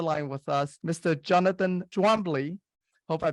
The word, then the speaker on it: Twombly: Jonathan Twombly. Hope I pronounced your name correctly there, Jonathan.